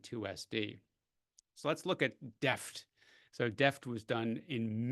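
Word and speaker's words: D2EFT: been calling d2f but I asked the investigators I said how do you pronounce this d2f and they said deft Deft everyone should know it's Deft did you know it was Deft no I didn't okay anyway I guess if you learn nothing else at this this webinar you learn that d2f is pronounced Deft uh the D2 stands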